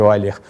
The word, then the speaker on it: Euler: Escreve-se Euler, mas pronuncia-se Euler.